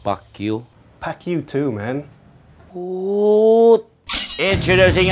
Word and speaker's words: Pacquiao: And finally, he is a five-time heavyweight eating champion, the pride of chicken, Manny PacQuiao. It's actually pronounced PacQuio.